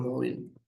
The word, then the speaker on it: móvil: 27 es el número móvil. Móvil en la voz. Palabra grave. Las palabras graves se acentúan en la penúltima sílaba y se escribe tilde cuando no terminan en ns vocal.